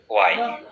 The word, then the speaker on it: why: why, ওয়াই। এইচ বাদ দিলাম, which. এভাবে উচ্চারণ করতে হবে। হ্যাঁ, লেখার সময় এইচ থাকবে, বলার সময় এইচ থাকবে না।